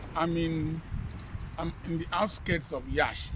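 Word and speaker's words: Iași: We're in this beautiful lake, and I'm in the outskirts of Yash. Yash is spelled L-A-S-I.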